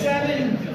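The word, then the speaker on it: Se7en: It's seven. Seven. The movie is spelled S E number seven EM. So, it's the seven.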